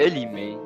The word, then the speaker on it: Elimé: C'est Elimé. C'est Emile à l'envers.